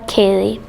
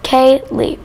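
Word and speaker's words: ceili: dance well it's not our chance is called kaylee pronounced k lee when people hear it they pro when they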